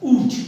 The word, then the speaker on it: would: तो देखिए यहाँ पे हमने ये वुड के देखिए, और वुड का जो प्रोनाउंसिएशन होता है ऊड है ना, ऊड, ठीक है, वुड।